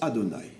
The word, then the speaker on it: Adonai: Il s'écrit Havaïe et on le prononce Adonai, qui est en vérité la même chose que Elohim.